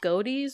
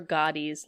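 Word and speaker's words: Godey: on Halloween published in I don't know if it's goatees or goddy's lady book I think it's probably goatee how is this spelled g-o-d-e-y yeah it sounds like goatee I feel like Gotti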